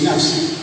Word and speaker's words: INAFCI: El instituto tiene poquitos meses, INAPSI, se pronuncia INAPSI, la verdad que poco pronunciable, pero es así.